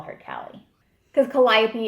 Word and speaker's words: Calliope: kind of tend to call her Callie, because Calliope it's a lot for the mouth. You know, and if people don't... 4 syllables. Yeah, Calliope.